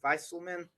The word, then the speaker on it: Viselman: Viselman, Viselman works.